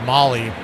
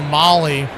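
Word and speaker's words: Mahle: And I'd always heard mail the whole time he was in Cincinnati, but now that he's went he's been out in San Fran a couple other stops, they're now saying he pronounces it Molly.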